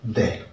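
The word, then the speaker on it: the: अगर consonant sound के साथ होती है, इसका उच्चारण बोला जाता है द।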